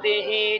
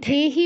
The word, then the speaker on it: দেহি: এরপর আপনার একটা প্রবণতা আছে তকে থ বলার, দকে ধ বলার। এই জিনিসটা দিয়ে খেয়াল রাখতে হবে, ঠিক আছে? এই দুর্লভম নয়, দেহিকে আপনি ধেহি বলছেন অনেক জায়গায়।